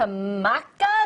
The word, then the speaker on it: maca: All right, so from matcha to maca, is that how you say it?